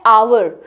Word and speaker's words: hour: Why will AN come because you know that H is silent in our, what is the pronunciation? Hour She is going to